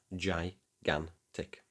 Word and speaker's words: gigantic: So according to our rule, the first G is soft, giving us gi. And what comes after the second G? It's an A. And what does an A give us? A hard G. So we get gan. Put it together and you have gigantic.